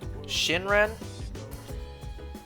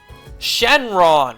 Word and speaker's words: Shenron: I even saying his name right shin run shinran the dragon and Dragon Ball God damn it Shenron what the hell's wrong with me man I